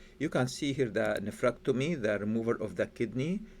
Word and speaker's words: nephrectomy: will be surgical removal of kidney and the pronunciation for the nephrectomy nephrectomy nephrectomy nephrectomy neomy okay let let me share